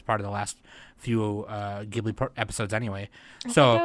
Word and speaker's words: Ghibli: since she was part of the last few Ghibli episodes anyway. I think I was only part of one. Oh, never mind. Okay, whatever. Ghibli, by the way, it's yeah, Ghibli.